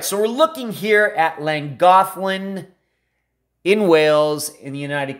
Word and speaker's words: Llangollen: But that is how you pronounce it, even though there's no TH in that word, that's how you pronounce it. So Llangollen, something like that. It is certainly not Llangollen or Llangollen or anything like that.